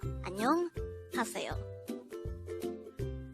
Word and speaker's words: 안녕하세요: Annyeong Haseyo, which means hello or good morning in Korean. This expression could be divided into two parts. Annyeong Haseyo.